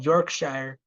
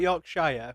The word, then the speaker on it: Yorkshire: It's not Uh, it's not Yorkshire. We're not hobbits. It's Yorkshire. It's Yorkshire. Yorkshire. Yeah. Like Lincolnshire and And Berkshire.